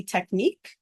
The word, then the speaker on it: technique: remember the spelling tqu that's not how we say it when we're talking in day-to-day conversation we say technique however if it helps